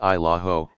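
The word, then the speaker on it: Isle au Haut: offering spotty cell service at best i'll oate pronounced isla ho isn't your typical vacation idol although a few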